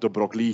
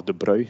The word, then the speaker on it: de Broglie: is something certainly that de Broglie kind of or de Broglie, there's two different ways of pronouncing his name.